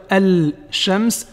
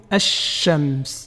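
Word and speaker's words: الشمس: Donc on ne va pas dire al-shams, mais plutôt ash-shams.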